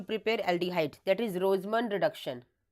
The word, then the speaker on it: Rosenmund: First naming reaction है to prepare aldehyde, that is रोजमन reduction. रोज and silent होता है, रोजमन reduction.